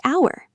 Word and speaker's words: hour: And another surprise, an hour, because the H is silent and it sounds like hour.